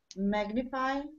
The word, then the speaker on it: magnify: Magnify has the first stress very good syllable.